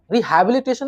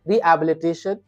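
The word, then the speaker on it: Rehabilitation: रिहैबिलिटेशन नहीं बोलना है, एच वहां पर साइलेंट है।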